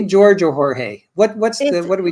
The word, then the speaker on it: Jorge: Well, in Spanish it's Jorge, but he went by George, and his Jorge mom is George is in English. So of course, and his mom says Jorge.